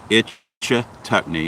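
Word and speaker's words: Ichetucknee: look up uh go in and google map itch tuckney and i believe it's spelled i c h e t u c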